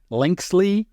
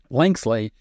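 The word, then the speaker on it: Linksly: look at linkel so lynel is spelled l i n KS l y linkle really I guess is how you pronounce it what you need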